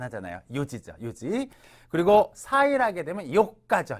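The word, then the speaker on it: 四時: 네시 할 때 이거 지라고 안 하잖아요 지죠 요지 그리고 사일 하게 되면 가죠 요가 요기다 금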